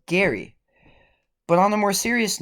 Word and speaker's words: Gerry: has ever said it because the man who gerrymandering is named after Elbridge Gerry isn't pronounced this Gerry but is Gary but on a more